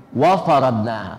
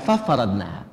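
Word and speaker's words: وَفَرَضْنَاهَا: Wa faradnaha, bukan fa faradnaha.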